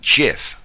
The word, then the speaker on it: GIF: Just so you know, according to Steve Wilhite, who invented this file, it's pronounced GIF, like giraffe.